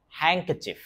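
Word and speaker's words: handkerchief: হ্যাংক চিফ। আপনারা গুগ এ শুনে নিয়েন। আরো সুন্দর করে উচ্চারণ শুনতে পারবেন।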